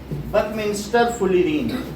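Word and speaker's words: buckminsterfullerene: Diamond के बाद जो लिखा इसका प्रोनाउंसिएशन है बकमिंस्टर फुलिरीन, और बुक में लिखा हुआ है, बुक से देखिए, सेकंड लास्ट लाइन।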